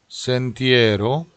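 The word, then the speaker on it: sentiero: 마디타 이러면은 이제 D가 하나밖에 없어서 요 D가 두 개라는 거를 신경 쓰시고 마디타 운 센티에로, 센티에로. 이렇게 모음과 모음 사이에 있는 R 발음을 한 번만 굴리시면 돼요.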